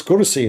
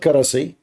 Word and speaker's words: kursi: I mean, it's kursi, not karasi.